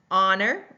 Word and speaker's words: honor: Honor, we do not hear that H. We go right to the middle vowel sound and hear the Honor in that.